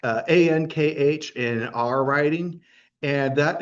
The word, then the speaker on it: Ankh: That's called the Ankh, Ankh in our writing, and that is like the symbol of life. And the name, and sometimes the K at the end is silent.